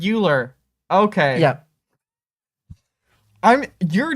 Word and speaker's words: Euler: the english called euler but in germany we always called him euler because i mean that makes his name well yeah hey it makes sense uh i i just probably fairly few american people pronounce it correctly so i don't think i would have heard it like that yeah it's something with